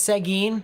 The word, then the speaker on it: Seguin: uh interesting here it's an interesting thing is seguin that's how it's pronounced so seguin i kind of like bounced